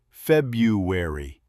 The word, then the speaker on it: February: And here's one that gets almost everyone. February. Most Americans say February. That first R almost disappears. Mistake number 2, the ED ending.